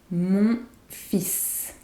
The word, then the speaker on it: fils: The L is silent but we pronounce the S. Mon fils.